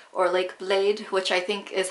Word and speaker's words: Bled: So the first one is Lake Bled, or Lake Blade, which I think is how it's pronounced over there.